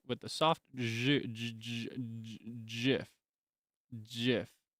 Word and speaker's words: GIF: it's with the soft GIF, like the peanut butter.